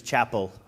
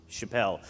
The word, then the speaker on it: Chappelle: last name correctly uh for years and years it was Chapel uh but now now at least we're close Chappelle um so thank you